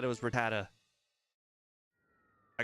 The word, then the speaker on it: Rattata: I call it Ratata. I call it Ratat, but close enough.